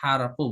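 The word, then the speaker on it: حرف: Ingat cara bacanya harfu bukan huruf. Kalau huruf itu bahasa Indonesia ya, ini bahasa Arab.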